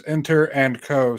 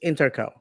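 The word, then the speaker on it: Inter&Co: watching and wondering is inter and Co Stadium correct but uh but uh I was told that the name of the company how it's pronounced is interco that that they don't pronounce the and yeah so inco stadium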